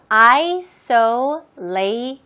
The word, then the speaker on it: isolation: 고립, isolation. 똑같이 여기도 TIO 부분을 SH 발음으로 하시면 돼요.